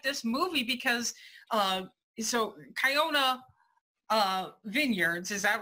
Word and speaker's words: Kiona: It's like you're like this movie because so Kiona Vineyards, is that right?